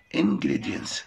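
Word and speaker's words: ingredients: انجريدينتس لاحظ ان التي ما نطقناهاش في بعض الكلمات. لو لقيت الكلمه بتنتهي بثلاث حروف ساكنه بينهم حرف التي يعني ده ساكن وده ساكن وده ساكن. حرف التي لا ينطق لسهوله النطق.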